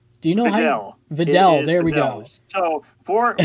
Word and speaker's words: Videl: We have how do you pronounce it? Vidal? Do you know Videl. Videl, there we go.